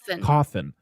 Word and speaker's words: Cawthon: Cawthon.